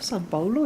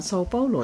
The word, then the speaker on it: São Paulo: Oh, San Paulo ya, bukan Sao Paulo ya bacanya ya.